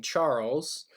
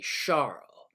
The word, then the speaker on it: Charles: behind this particular law he's actually a Frenchman and you don't pronounce his name Charles it's actually Charla Chuck Charles the guy's